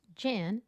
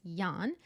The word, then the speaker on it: Jan: And just so everybody knows, because you're probably hearing me, Jan, it's a German name and it's spelled Jan, but it's not pronounced Jan. It's Jan, Keck.